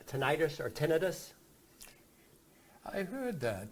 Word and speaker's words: tinnitus: But what happens is, I'd like to say tinnitus because it sounds, but the actual pronunciation is tinnitus.